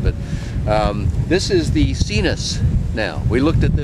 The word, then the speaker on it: Sinus: virus before and yes those terms look like they would be American pronounced differently but this is how we pronounce it so this is the cenus this is a motor